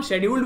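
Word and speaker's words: scheduled: तो शेड्यूल्ड को हम शेड्यूल्ड भी पढ़ सकते हैं और स्केड्यूल्ड भी पढ़ सकते हैं, अमेरिकन प्रोनाउंसिएशन स्केड्यूल्ड है और ब्रिटिश प्रोनाउंसिएशन शेड्यूल्ड है, तो इसीलिए कई बार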